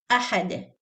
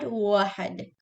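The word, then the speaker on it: أَحَد: Ahad is hamza. Qul huwa Allahu ahad, not wahad.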